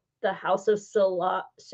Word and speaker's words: Sillage: On the top, it says the House of Sillage. I think the L is pronounced like a Y, like, you know, like Okay.